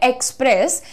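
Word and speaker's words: express: हम कहते हैं एक्सप्रेस ये ई का साउंड होता है भैया यहां पर एक्सप्रेस नहीं किया जाता है एक्सप्रेस किया जाता है लाइट रखो ए नहीं ई से बोलो और लाइट करके बोलो एक्सप्रेस एक्सप्रेस आई वांट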